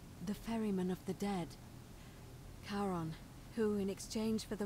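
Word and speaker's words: Charon: it's just as you described it only your pronunciation is a little off the name you heard wasn't karen it was c c-h-a-r-o-n as in caron the ferryman of the dead karon who in exchange for the right coin helps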